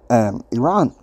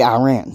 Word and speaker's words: Iran: iran you know now being born in west texas i mourned him to say iran but having my brief stint in journalism school how things are pronounced in the broadcast world it's iran so not taking aside